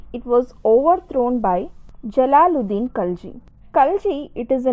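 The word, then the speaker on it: Khalji: about the kalchi dynasty so if you pronounce it as kinji dynasty also so kalji dynasty it was ruled from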